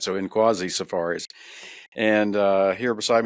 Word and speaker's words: Nkwazi: owner and outfitter of Quasi Safaris. Did I say that correctly? The N is silent. Yes. Inquasi the N is not silent. So Inquasi Safaris.